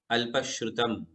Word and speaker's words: अल्पश्रुतम: आज हम 6 नंबर का काव्य लेंगे, अल्पश्रुतम। और सभी लोग मेरे पीछे शुद्ध उच्चारण करेंगे, अल्पश्रुतम।